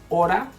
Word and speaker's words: hora: So a soft sound will be when you say, for example, hora, you see, the R is soft.